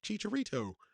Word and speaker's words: Chicharito: be interested in meeting Chicharito. That's how they pronounce it. So that's how I'm going to pronounce it.